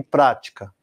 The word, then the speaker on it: prática: E se fosse proparoxítona? Válida e prática. Mesma coisa, bate junto com a tônica no quarto tempo, uma virada do compasso.